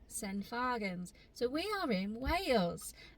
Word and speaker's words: St Fagans: are we Chloe sent I I'm gonna say some fagans but it's not it's actually pronounced sen fargans so we are in Wales and we are